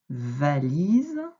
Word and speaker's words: valise: Donc, va, la syllabe va, li et ze, pas de problème, avec le S qui fait z.